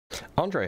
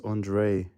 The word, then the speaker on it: Andre: Andre, how's it going? Hey, how's it going? Oh, that's not how you pronounce my name. Okay. How do I pronounce your name? Uh, it's Andre.